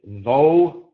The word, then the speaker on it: though: And so you have to associate the word rough, R-O-U-G-H, with though. You know, rough is associated with up sound. Though, spelled the same way, is associated with the O sound.